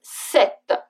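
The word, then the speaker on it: sept: sis sis is 6 then comes set set for 7 with its silent P then you read for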